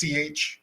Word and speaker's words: Bach: BACH, that's how it's spelled. Bach. Bach, like Yes. Yeah. composer.